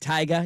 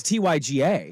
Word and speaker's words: Tyga: got to say it tiger you got to say it like that well it's Tyga okay it's tiger it's not not trying to say cool he's not Tiger Woods he's tiger he's tiger